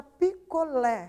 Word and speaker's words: picolé: E a palavra picolé recebe o acento na última sílaba. Por quê? Porque a sílaba lé dessa palavra é a mais intensa, né?